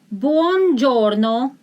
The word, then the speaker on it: buongiorno: Buongiorno. Buongiorno. Buongiorno. When you pronounce it very fast, you don't hear buon, you hear bon, buongiorno, but actually it is buon giorno, which means giorno, day,